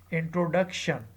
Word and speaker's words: introduction: For example, in the word introduction, introduction, the third syllable duc is said with force and is held for a long time.